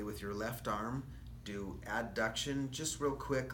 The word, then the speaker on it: abduction: sound too much alike so I pronounced an Abe like good old Abe Lincoln abduction and it's super easy to hear so you'll always hear me say abduction and adduction yes Adam okay so